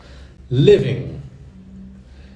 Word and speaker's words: living: No gerúndio, living. Living. Não pronuncie o G, tá? Não fala living. Living. Como se fosse IN no final.